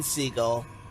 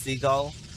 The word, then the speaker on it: Seagal: Elite was random but I'm not entirely sure it's pronounced seagull I was not I